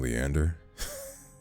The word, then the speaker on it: Leander: a minute have I've been saying leaner this whole time and I should be saying Leander my goodness oh man H